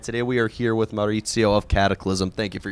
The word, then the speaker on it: Maurizio: Thank you for saying my name right, Maurizio. I said it right? Yeah, one of the two is like messed up, like Mauricio, whatever the fuck.